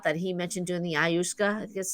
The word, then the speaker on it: ayahuasca: He mentioned doing the ayahuasca, I guess it's called. I don't know if I Ayahuasca. pronounced that right.